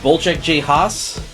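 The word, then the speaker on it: Wojciech Has: So first up, we have this Polish film from 1963 from, well, see, I believe it's pronounced Volchek J. Haas.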